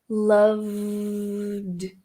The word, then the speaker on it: loved: Como ele é voiced, na hora de pronunciar o verbo no passado, você vai só fazer a transição direta para o som do D. Então, vai ficar loved.